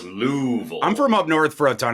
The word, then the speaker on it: Louisville: region could tell you it's louville Louisville not Louisville it's louville I'm from up North